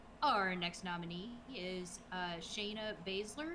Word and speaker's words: Baszler: Our next nominee is Shayna Baszler. Is that how you say it? You say her last name Baszler, right? Okay, correct. SZ, the same spot, you never know. So our next nominee is Shayna Baszler, who really took a